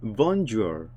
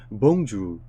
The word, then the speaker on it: bonjour: 프랑스에서 안녕하세요 하는 인사말을 봉주르라고 하는데, 영어식 발음은 bonjour 이라고 읽어요. 조금 다르죠? 그러니까 프랑스식 발음은 선생님도 잘 못하는데 bonjour 뭐 이런 식으로 하는데, 여기 영어식 발음은 bonjour 이라고 발음을 해요.